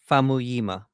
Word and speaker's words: Famuyiwa: Uh It's Rick Famuyiwa. Famuyiwa. Okay. Famuyiwa. Oh, see, now I'm messing up. See, dude, yeah, I mess up. Famuyiwa.